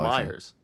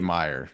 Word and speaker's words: Myers: be that but Philip Meer he's been a a bright spot is it or Myers I I say FIP Meyer I don't know even though there's an S there yeah I don't because